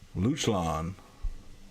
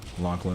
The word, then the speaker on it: Lachlan: black turn to lachlan oh i pronounced it wrong the whole way welcome to the stream man lachlan i appreciate you we're